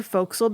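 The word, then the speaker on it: forecastle: the way you may have seen the word foxel before in a book or something printed and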